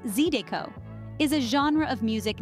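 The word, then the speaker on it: zydeco: flavorful dishes and finally zido pronounced zido is a genre of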